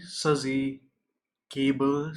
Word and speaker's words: SuzyQable: a scuzzy cable known scuzzy Suzy cable spelled with a Q Suz by Q a ble I don't know why